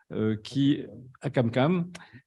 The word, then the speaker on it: Akamkam: Ali Akam, c'est comme ça que ça se prononce, Akamkam, qui va nous parler de la coronarographie sur cœur perfusé ex situ, faisabilité et toxicité sur un modèle porcin.